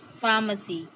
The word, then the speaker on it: pharmacy: Pharmacy, C, PH.